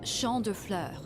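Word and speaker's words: Champs des Fleurs: do you say that it's Shand Flur it means fields of flowers this is the place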